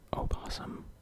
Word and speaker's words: Obbosum: My name is Obbosum, but the O is silent.